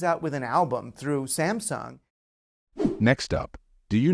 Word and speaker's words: Samsung: a moment to think I know that a lot of non-native speakers pronounce it as Samsung however that's not correct the stress in this word should fall on the first syllable and the second part of the word should be pronounced as s not soon the right pronunciation of this South Korean brand is Samsung remember it did you